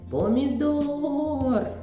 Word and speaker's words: помідор: Наголос на іди до мене помідор. Наголос на о.